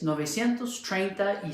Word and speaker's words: novecientos: sankini Atos a little irregular it's not quite Nueve ciento Slyke all these others are you just you don't see the number in there exactly nobody at those how do you say 36 trade you say it's novecientos trade that he says and then we have